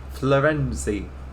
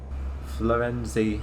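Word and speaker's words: Firenze: They call it Florenzi because that's how it's pronounced in the Italian language.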